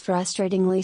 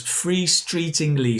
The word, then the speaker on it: frustratingly: Now this time I'll show you what happens if I pronounce it incorrectly. Okay? What about this? This meeting is frustratingly slow. And let me say it incorrectly. This meeting is free-streetingly slow.